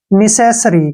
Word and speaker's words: necessary: NE का उच्चारण हम नी के रूप में करेंगे और सी का उच्चारण से के रूप में करेंगे। ई से हो गया ए की मात्रा और एस का उच्चारण से करेंगे। निशेष क्या बन गया, निशेष।